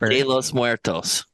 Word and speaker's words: de los Muertos: hey come on hold on hold on let's pronounce that correctly thank you thank you say it de los Muertos there you go yay and then the one